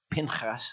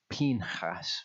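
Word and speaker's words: פנחס: I've been saying Pinchas. I've only just about got to the point where it kind of flows a bit more naturally to say Pinchas, but it actually turns out to be Pinchas when I read the Hebrew.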